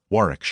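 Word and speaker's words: Warwickshire: Bank Sellers Viccount Berkeley of Chanderlay Castle Warwickshshire pronounced Cubri Thin Landover Marshbank Sellers Viccount Barkley of Chumley Castle Warikshire.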